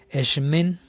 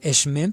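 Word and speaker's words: Xmen: dar mucha risa porque así se escribe, pero se pronuncia Eshmen. Se dice Eshmen, pero en realidad se escribe con X, o sea, X-Men, o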